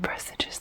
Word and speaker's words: presages: I said presages the first time and it just didn't sound right. Turns out that is apparently how you pronounce it.